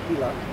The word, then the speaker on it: Gila: The legislation surrounding the water management of the Gilla River pronounced Hila Gila River lasted 50 years.